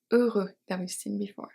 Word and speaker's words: heure: At the beginning of words, we have a special one. It's ash is never pronounced in French. We have heure heure and middle of wordsent after Q.